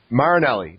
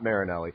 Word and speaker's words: Marinelli: Marinelli, not Marinelli.